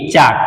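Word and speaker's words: chalk: very good है ना सी एच ए एल के चाक इसमें साइलेंट होता है क्या साइलेंट होता ए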